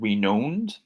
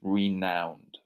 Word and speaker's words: renowned: Just make sure you get the pronunciation right here because it's not renowned, it's renowned.